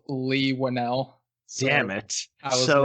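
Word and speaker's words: Leigh Whannell: of different interviews where they pronounce it as lee winnell damn it so right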